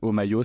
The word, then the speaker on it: Homaio: Omayo, ça s'écrit H-O-M-A-I-O.